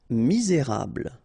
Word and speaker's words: misérable: Misérable. Okay, don't insist on the final E here. You get this bl sound at the end. Okay, misé, et because you've got this accent aigu, rable. Misérable. Nécessaire.